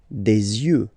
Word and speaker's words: yeux: Des yeux, des yeux, des yeux. Yeux, okay? Don't pronounce the final X as usual.